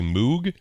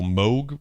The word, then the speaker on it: Moog: proper way to say Moog a lot of people say Moog I said moo for a lot of years but it's German so Moog would be the proper pronunciation I believe uh so